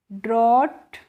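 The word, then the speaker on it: drought: यू जी एच टी को हम पढ़ेंगे फ्रेंड्स ड्रोट और ड्रॉट की हिंदी मीनिंग क्या होती है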